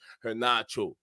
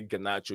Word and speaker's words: Garnacho: Okay, so yeah, and like Stephen and I were saying, we don't think that the Garnacho, Alejandro Garnacho, the real pronunciation is Garnacho, but sometimes we say Garnacho.